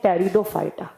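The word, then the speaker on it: Pteridophyta: एक होते हैं थैलोफाइटा, एक होते हैं ब्रायोफाइटा, एक होते हैं टेरिडोफाइटा। यहां पर टी से प्रोनाउंस किया जाता है, टी को साइलेंट रखा जाता है।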